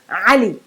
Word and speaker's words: Ali: the name ali ali it's not ali it's ali so again the i moved with a short ah it sounds like let's